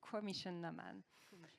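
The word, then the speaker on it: Coimisiún na Meán: So it's Commission Naman, or CINAM, I would say.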